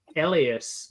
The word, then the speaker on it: Elyas: pronunciation. I've Yes, always Tara. said Elias, like Yes. Elyas, but the diphthong Elias now makes me want us to do like a weird Not Elias.